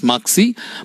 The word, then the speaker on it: Machsi: It is pronounced as Maksi, but it is spelled as M-A-C-H-S-I.